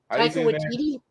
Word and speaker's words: Taika Waititi: know it was done by, I can never pronounce this man's name. Takaka, help me out here, Joe. Wakiti? Taika Waititi?